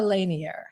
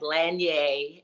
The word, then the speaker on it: Lanier: Is it Lanier or Lanier? How do you say your last name? It's Lanier because we're Lanier. in Chicago. How should you really pronounce it? It comes from the Louisiana area, so like Lanier, and I have a young niece, Darcy.